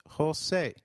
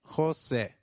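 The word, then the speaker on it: José: e I in 8 the letter J sounds like H in Spanish so try saying Jose it is Jose you will encounter a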